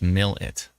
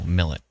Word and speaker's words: Mallette: Mayfield Saskatchewan and uh Brenda says Mallette is pronounced mil it oh Millet I see okay I'm going